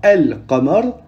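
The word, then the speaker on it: القمر: de 14, et que s'il y a une lettre lunaire qui vient après un elif ou lem servant à définir un mot, du coup, on prononcera le lem.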